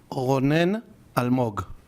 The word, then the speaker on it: Ronen Almog: Ronen Almog.